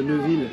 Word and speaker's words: Neuveville: Comment on dit la Neuveville? C'est la Neuveville? Neuveville. Comment ils prononcent? Alors, eux, ils appellent ça la Neuville. Ah, la Neuville, voilà, c'est ça.